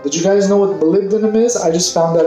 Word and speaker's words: molybdenum: Did you guys know what molybdenum is?